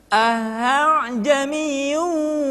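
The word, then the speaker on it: أعجمي: A'jamiyyu wa' arabiy. Jadi, hamzah kedua tidak dibaca a'jamiyyun atau a'jamiyyun, melainkan dibaca dengan suara yang samar.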